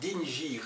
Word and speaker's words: dingir: Que l'on prononce dingir. Dingir, voilà, exactement. Ah oui, ça, c'est un seul signe. C'est en sumérien, ceci. Oui, mais c'est un seul signe, mais il y a quand même deux syllabes dans dingir.